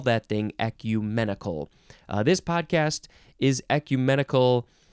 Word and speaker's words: ecumenical: to switch those around E I want to say ecunemical but it's ecumenical adjective from Circa 15871